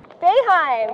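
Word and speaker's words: Boeheim: court advantage but let's see if you can pronounce these words ready Ananda Ananda Ananda yes baheim bohim close bohim closer beheim this is Jim beheim he's the coach here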